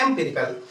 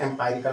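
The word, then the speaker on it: empirical: एंपेरिकल। ठीक? तो एेरिकल मीन्स क्या होता है? अच्छा स्पेलिंग में एररिकल।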